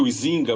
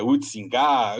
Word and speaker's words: Huizinga: Eu chamo ele de Huizinga, os historiadores não gostam dessa pronúncia, é Huizinga, enfim.